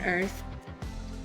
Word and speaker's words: Earth: โลก ใบ นี้ on earth เนาะ อ่ะ คำ ว่า Earth มี th ออก เสียง th ข้าง หลัง ด้วย นะ คะ เอา ลิ้น แลบ ออก มา นะ จะ เห็น ว่า substances